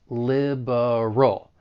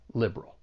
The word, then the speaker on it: liberal: However, because of elision, which is when sounds get removed, that schwa sound in the middle may elide and now we're left with just two syllables. Liberal. And I think often you will hear people pronounce this word with just two syllables and they'll say liberal.